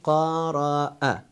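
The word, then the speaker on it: قرأ: And another example at the end, we say qara'a. Also here we don't pronounce alif, we pronounce hamza.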